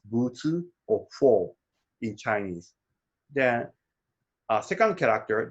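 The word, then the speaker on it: 佛: So that's we pronounce Buzi or Fo in Chinese.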